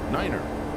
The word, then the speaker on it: niner: november 721 echo bravo in aviation some numbers have special pronunciations one two three four five six seven eight niner zero this call sign